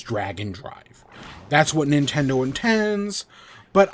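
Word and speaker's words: Drag x Drive: Our first one is about DragxDrive. I keep calling it DragxDrive. I know the official pronunciation is Dragon Drive.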